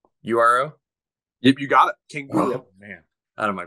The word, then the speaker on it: Canguro: Canguro. Oh, man, out of my brain. You had it phonetically right.